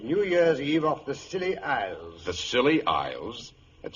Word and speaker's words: Scilly: Year's Eve off the Scilly Isles. The Scilly Isles? That sounds appropriate, Doctor. The name of these particular islands is spelled S-C-I-L-L-Y.